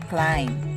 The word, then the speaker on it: climb: ivan prescottish sean don't pronounce the b after m in the following words thumb thumbing climb climbing climber bomb bombing